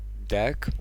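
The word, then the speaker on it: deque: can solve this problem using deck you know pronounce like deck so we can say deck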